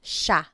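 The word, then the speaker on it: siya: point out the pronunciation it looks like it should be pronounced but it's usually pronounced Sha Sha Sila is they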